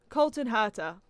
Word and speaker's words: Colton Herta: need to stay on the internet more um colton herta i did pronounce that right right yeah yeah that's that's